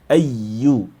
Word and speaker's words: أَيُّ: A lot of things have cramped here, but the focus here is on the ya with shadda, the emphasize ya, ayyu.